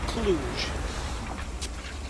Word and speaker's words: Cluj: Actually pronounced Cluj.